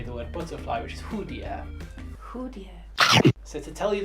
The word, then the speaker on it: 蝴蝶: how to say the word butterfly, which is hudier.